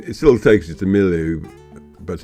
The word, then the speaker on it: Miliou: of the place we're going through is uh milu and that's how you pronounce it cuz I just phoned up uh